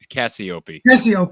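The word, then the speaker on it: Cassioppi: challenge for tony raziopi is that it's pronounced rusty opie is that right the heavyweight what a challenge he's going to have to wrestle that guy in minnesota again cassie cassiopei thank you you're thinking of spencer petrus's private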